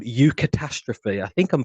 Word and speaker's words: eucatastrophe: and films, and even in the Bible, called eucatastrophe. I think I'm pronouncing that correctly.